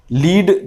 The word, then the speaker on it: lead: दोनों वर्ड का जो स्पेलिंग है वो बिल्कुल एक है LEAD, लेकिन उनका प्रोनाउंसिएशन बिल्कुल अलग अलग है। पहले का होता है लीड यानी रहनुमाई करना, और लेड के माने होते हैं शीशा, एक तरह की धात।